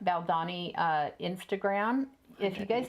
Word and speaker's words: Valdani: Um on the Valdi, how do you say that? Valdani. Baldani uh Instagram.